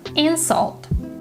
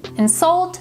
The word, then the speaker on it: insult: on the first syllable insult this person insulted me insult is a verb and stresses on the second syllable insulted present present on